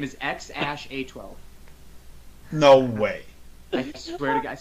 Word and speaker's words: X Æ A-12: it goes and then the AE combination he said that's pronounced ash and then it's just a twelve literally this kid's name is ex ash a twelve no way thank you